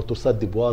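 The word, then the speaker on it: torsades de pointes: في النوع الاريزميا الخطير اللي اسمه تورسا دي بوينتس او تورسا دي بوا زي ما بعض الناس بينطقها طيب هل في ناس عرضه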